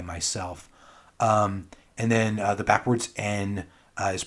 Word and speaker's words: Н: And then the backwards N is pronounced E, and it means and if it's by itself. There's also this one, looks like an H, but really it's pronounced like an N.